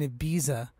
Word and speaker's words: Ibiza: Like, I feel like I'm in Ibiza, or Ibiza, I believe that's how you pronounce it correctly, in a club by the beach listening to this track.